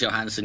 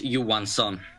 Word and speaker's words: Johansson: And our second Swedish center, Marcus Johansson, you would pronounce it Marcus Johansson. His last name obviously means Johan's son, as in Johan Franz in the Detroit player.